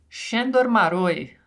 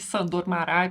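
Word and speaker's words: Sándor Márai: Devo ter pronunciado errado Vamos aprender a pronúncia certinha do nome deste autor shor shandor maroi como tá todo mundo acostumado a chamá-lo de sandor marai por aqui mesmo a gente continua também não tem problema bem Este autor nasceu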